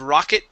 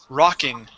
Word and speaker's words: rocking: word is rocking okay instead of rocket chair this is rocking rocking chair rocking chair okay